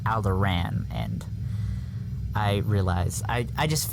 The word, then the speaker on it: Alderaan: the guard, Padme's guard, mentions that someone from Alderaan is in the running to become the next chancellor. And we said it's funny how they pronounced it wrong, and how it's actually pronounced Alderaan.